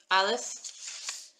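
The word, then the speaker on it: אלף: Aleph is a silent letter. He's all arms and legs with no voice.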